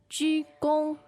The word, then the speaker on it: 鞠躬: 鞠躬, 鞠躬.